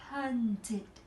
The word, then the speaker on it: hunted: Ở ví dụ đầu tiên mình sẽ phát âm là id, tại vì nó tận cùng cuối cùng là âm từ t hoặc là d. Như vậy từ này cô sẽ đọc là hunted.